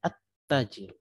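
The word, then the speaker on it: التاجر: lamnya terbaca di sini lamnya tidak terbaca tetapi harus diingat tetapi kita langsung memasukkan suara itu ke seolah-olah huruf setelahnya itu ada tasydid ya jadi begini ya walaupun tidak ditulis ya tasdid tidak ditulis tetap kita baca at-tajir karena hukumnya memang harus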